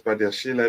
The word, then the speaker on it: Badiashile: what happens to me I like to pronounce this by their Sheila because if you you're not going to tell me the E there is silent it does he doesn't make any sort of sense and given that it's